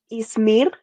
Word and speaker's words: Ismir: Ismir. Ismir. Yeah, but I like your pronunciation way better than mine. Can you actually do that again? Ismir. Yeah, it's got the little tongue roll with the R.